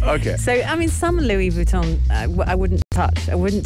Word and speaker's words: Louis Vuitton: So, Louis Vuitton, as it's supposed to be pronounced. Louis Vuittons.